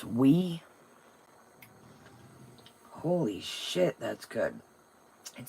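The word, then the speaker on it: Oui: It's pronounced wee.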